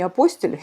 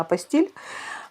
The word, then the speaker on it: апостиль: Дипломы продолжают приниматься, если официально все сделать, как я уже рассказывала в предыдущем ролике, если получить, правильно говорить не апостиль, мне все время хочется сказать апостиль, а вообще-то правильно апостиль.